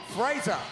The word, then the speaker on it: Fraser: like joshua no you his name rhymes with laser so it could be the one and only matt frazer yes ladies and gentlemen